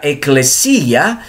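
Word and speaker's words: ἐκκλησία: iglesia depende de una palabra griega que se pronuncia eclesilla Qué significa eclesia que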